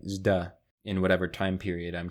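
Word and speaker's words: ζ: The d sound plus the y marker becomes a zeta, pronounced like zda, in whatever time period I'm trying to emulate at the moment.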